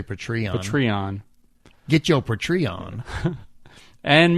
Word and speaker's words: Patreon: whole bottle good luck apparently I have been saying Patron yeah it's patreon patreon like patrons I guess well that's what